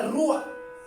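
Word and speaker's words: ruach: en el hebreo hay una palabra eh que se pronuncia rua que es aliento vital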